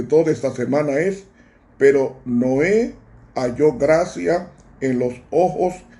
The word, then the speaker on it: Noé: Noé viene de la palabra Noah, se pronuncia Noé, Noah.